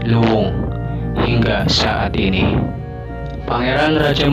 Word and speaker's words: Luwung: yang masih berbentuk hutan di dalam bahasa Sunda Hutan biasa disebut lowong kata itu dalam pengucapan masyarakat Cirebon menjadi Luwung hingga saat ini Pangeran